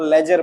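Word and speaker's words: ledger: क्योंकि यहां पर आपका ये जो डी वाले भैया है ये क्या है? साइलेंट है। इसको लेजर पढ़ते हैं।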